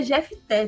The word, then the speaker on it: Jefté: Power Rangers aí, eu acho que se lê Jefté, tá? Pelo que a galera falou. Porque esse F aí no meio é mudo.